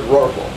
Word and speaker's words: rorqual: Well, they said Rorqual, and so we have the word Rorqual. R-O-R for roar. Qua is a Q-U, not a K. And then A-L.